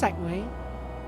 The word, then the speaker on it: segue: It's pronounced Segway, but does any country actually spell it Segway like that?